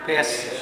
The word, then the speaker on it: Bes: e s atau S kalau misalnya B mol dibacanya apa bes B Kalau e mol dibacnya